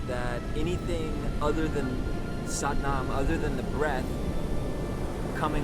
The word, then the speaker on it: Satnam: Another nuance from another culture in Indian yogic society from the Sikhs is Satnam. Sat rhymes with but, Sat, S-A-T, Nam, N-A-M, rhymes with mom.